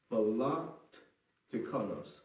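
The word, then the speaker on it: philoteknos: That means that word love is let me spell it. P-H-I-L-O-T-E-K-N-O-S. Philotekonos.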